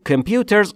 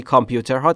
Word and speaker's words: computer: Computers یعنی کامپیوترها، تلفظش رو دقت کنید. Computer، کامپیوتر نیست، کامپیوتر رو ما فارسی میگیم.